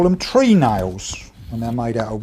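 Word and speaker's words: treenail: ship Builders call them tree nails when they're made out of wood but like everything in the Woodwork in trade we don't pronounce that properly we call them trenel so this in actual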